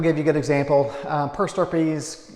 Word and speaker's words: per stirpes: Is it per Stripes or per Stirpes? So it's pronounced per Stirpes.